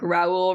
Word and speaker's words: Raul: It's the only way I remember except that one time where I said like Raul rhymes with tall. No, it's R. Raul rhymes with towel.